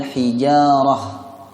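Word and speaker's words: الحجارة: Kita ingat kembali bahwa huruf ta marbutah jika waqaf dibaca seperti bunyi huruf H. Nah, cara baca H itu lembut. Jadi dibaca wal hijarah, tidak wal hijarah.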